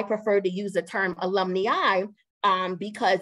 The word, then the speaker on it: alumni: So this term that you see here is pronounced alumni.